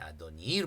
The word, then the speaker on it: 아도니: 그랬더니 내주여 아도니에 이것도 아도니를 발음해야 돼요.